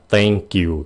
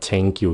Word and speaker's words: thank you: Phát âm này nha, thank you. Các bạn đừng có nói là thank you nha. Please, đừng có nói là thank you. Không phải là âm t, nó là âm t.